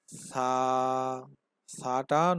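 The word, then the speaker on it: ث: বা, তা, সা, সা। সা উচ্চারণের সময় জিহ্বার আগা সামনের উপরে দুই দাঁতের আগার সাথে লাগিয়ে দেবেন।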